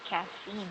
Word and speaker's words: caffeine: Yeah, I yeah, used to think until I found out the correct pronunciation is caffeine, not caffeine.